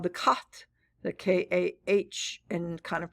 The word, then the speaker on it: Khat: Remember, their body was the 9th part of the soul, called the Khat, the K-A-H, and kind of pronounced K-H-A-T.